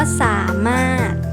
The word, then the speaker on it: สามารถ: อยู่ ตรง กลาง คำ ว่า สามารถ ไม่ ออก เสียง เรือน ที่ อยู่ ตรง ตอน ท้าย นะ คะ อ่ะ มี